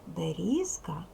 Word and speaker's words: берізка: само в кінці складу з вимовляється дзвінко чітко складаємо сенкан гриби які